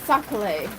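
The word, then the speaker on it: sac-à-lait: Andrew says sacale. Sacale. Sacale. If you're gonna say it right, Jamie. And even Rocco said it's sacale. Sacale. It's a sacale. It's not a sock. You put socks on your feet.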